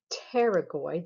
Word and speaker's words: pterygoid: All right, so here we have the medial pterygoid, the P is silent, pterygoid muscles.